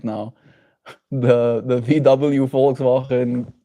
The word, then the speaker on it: Volkswagen: Volkswagen.